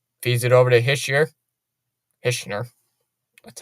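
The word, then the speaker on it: Hischier: notification there pellot fees it over to hisher hner that's how you say it hner tried to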